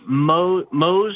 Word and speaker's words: Mohs: What about you mentioned earlier in the program the procedure for Mohs surgery? Is that the right way to pronounce that? Yep.